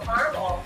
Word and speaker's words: Carmel: Wait, I think they pronounced it caramel, like not like California. Isn't that funny? Carmel.